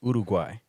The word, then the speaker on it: Uruguay: So it's not uru, it's urugay.